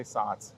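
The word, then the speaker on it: Saaz: Oh, I say Satz. Satz. That's how I it's... think the Z at the end is pronounced like a TZ in Yeah. German, and I say Satz.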